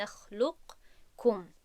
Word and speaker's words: نخلقکم: نمیگوییم نخلق کم، نمیگوییم، بلکه لام رو به کاف پیوست میکنیم و قاف در درون کاف گم می شود و ما این رو همچون این شکل تلفظ میکنیم که من در اینجا نوشتم برای واضح شدن. نخلقکم، نخلقکم، کاف، یعنی که با کاف تلفظ میکنیم.